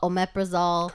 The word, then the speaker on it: omeprazole: so much something booty resolved at Oprah's all omeprazole correct panto pretzel is I guess the highest